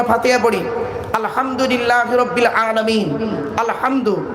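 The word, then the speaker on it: الحمد: পড়ি আলহামদুলিল্লাহি রাব্বিল আলামিন আলহামদু এই গলার ভেতর থেকে এটা উচ্চারণ করবেন আলহামদু মানে হচ্ছে সমস্ত প্রশংসা আল্লাহ তোমার আর আমরা কি বলি আলহামদু এর মানে শুনবেন সমস্ত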